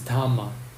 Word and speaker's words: dhamma: In Pali, they are pronounced a little bit different because Pali lacks the letter R. So sutra is sutta, karma is kama, nirvana is nirvana, and dharma is dhamma.